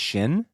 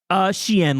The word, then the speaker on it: Xi'an: Is it pronounced Shin? Xi'an, like the province in China.